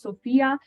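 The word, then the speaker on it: SFIA: a Sophia scale assessment it's written as a skills framework for the information age but it is pronounced Sophia which basically is sort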